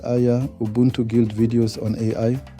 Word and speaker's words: AIIA: Welcome back to the Artificial Intelligence Institute Africa AIA, pronounced Aya, Ubuntu Guild videos on AI.